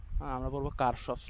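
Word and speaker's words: Kirchhoff: কেউ বলে কিরখফস ল, কেউ বলে কিরচফস ল। আমরা পড়বো কারশফস ল। হ্যাঁ, আমরা বাঙালি তো আমরা কারশফ পড়বো।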